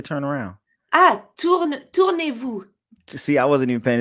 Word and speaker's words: Tournez-vous: Tournez-vous. Tournez-vous. Yeah. Tournez-vous. You just had the first part. Tour and then nez-vous.